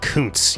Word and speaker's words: Kuntz: And I know what you're thinking, Rusty's name is strongly vaginal, but it's actually pronounced Kuntz, you animals.